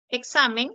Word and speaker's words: examen: última s luego Tienes examen examen se acentúa en la penúltima sila mir examen no lleva